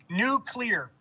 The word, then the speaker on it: nuclear: you say like bush am i saying nuclear new clear new clear okay i'm very comfortable with a